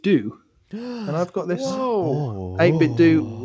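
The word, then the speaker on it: 8BitDo: and i've got this 8-bit do arcade stick pronounce that name why because i found out that's how you're supposed to pronounce it research lewis research i've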